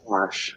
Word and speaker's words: wash: what do you say Dash wash wash I don't wash my car there's no damn R in there okay don't wash my